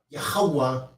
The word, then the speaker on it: Yahweh: So when some people pronounce that, they pronounce it with the ooh sound. And some people pronounce it with the wah sound. So that's why some people say Yahweh and some people say Yahuwah, right?